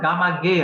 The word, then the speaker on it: Gamage: Your name, the ending, your name is pronounced Gamage, right?